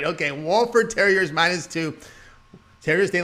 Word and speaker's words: Wofford: well actually i got to say it properly wofford as i was on one of the comments there i wanted to make sure i got it right okay wallford terriers minus two terrorists they like shooting on